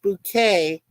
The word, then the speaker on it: Bucket: the premise High bucket who insists her surname is pronounced bouquet bouet although her husband Richard has said it was always bucket until I met you yeah that's the thing